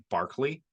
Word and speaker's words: Berkeley: philosopher called George George Barkley it's spelled Berkeley but it's pronounced Barkley um and he was